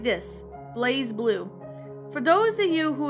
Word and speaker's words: BlazBlue: something called blaze blue now here's how you pronounce it it goes like this blaze blue for those of you who have never played